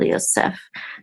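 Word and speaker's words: יוסף: And this is the accent or trope mark at the last syllable, Yosef, to Joseph.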